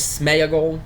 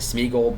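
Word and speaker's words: Sméagol: his real name is Smeaggle and then now in the movies they pronounce it Smegel but that is not how you pronounce that. There is an accent over the e that means something.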